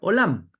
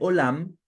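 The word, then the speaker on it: עולם: todavía conmigo Cómo se dice mundo en hebreo olam No es cierto y Cómo se dice oculto en hebreo nadie sabe no me pillaste no no se dice me pillaste se dice elem mundo se dice olam y oculto se dice elem con las mismas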